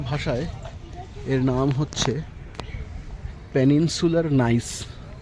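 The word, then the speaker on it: gneiss: এই যে যেটা হচ্ছে নিস যে পাথরটি, নিস বা নাইস যে পাথরটি, আমাদের বাংলা ভূগোল বইতে নিস লেখা হতো, এখন শুনছি বোধহয় উচ্চারণটা বোধহয় নাইস সঠিক উচ্চারণ।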